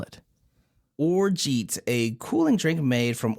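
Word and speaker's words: orgeat: do you spell it oret a cooling drink made from Orange flour water and either barley or almonds uh oh it actually is pronounced or this whole time o r z h at this is like the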